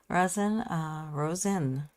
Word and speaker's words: Rosen: Rosen, like the flower.